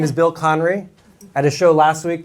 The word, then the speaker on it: Conry: Michelle by the way thank you for pronouncing my name correctly my name is Bill conry at a show last week the host introduced